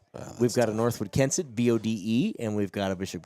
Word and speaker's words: Bode: We've got a Northwood Kensett, BODE, and we've got a Bishop Garrigan, BODE, and I believe they're pronounced differently. There may be I think one's Bodie and one's Bode.